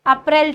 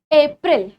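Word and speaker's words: April: अप्रैल अप्रैल नहीं है। यहां पे जो ए की साउंड है ना जो हमारा लेटर ए है बिल्कुल उसी तरह आती है। ए अप ए अप्रैल एप्रिल।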